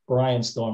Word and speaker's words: Brianstorm: song called brian storm that's not mispronounced it's brian storm instead of brainstorming yeah okay so here